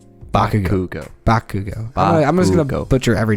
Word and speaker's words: Bakugo: There's no T. Bakugo.